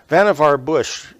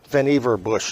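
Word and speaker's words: Vannevar Bush: of an integrated circuit um vavar Bush um vanever bush is the right way to say that in I have a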